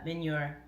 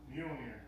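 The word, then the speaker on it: Mjölnir: Sean Adams on Facebook said, I just used my Minyor.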